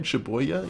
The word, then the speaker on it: Shibuya: No, we're gonna get Shibuya. I think I said that right. Shibuya? Yeah, that's how you say it.